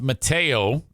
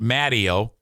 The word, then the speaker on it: Mateo: I got, in fact, Smarter Than a Former Drug Dealer trivia with, I found out it's pronounced Mateo. You were correct. It's not Matteo.